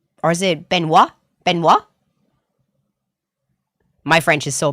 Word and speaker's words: Benoit: It's like Benoit. Half of the fucking name is silent.